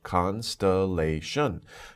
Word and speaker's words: constellation: So four syllables, constellation.